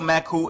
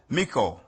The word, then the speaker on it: meku: Molokai KZ your makuu chief of the United NAWAPA nation today the title meku is mispronounced as mickou or mikkel if you go further